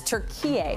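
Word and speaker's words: Türkiye: to recognize it as turkey following a request from the country's foreign minister that's how it's pronounced in turkish the move is seen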